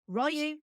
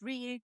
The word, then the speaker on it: Ryu: man as Ryu hosi AKA Ru in this movie a pronunciation that has stuck ever since but technically it is Ryu Grand L bush as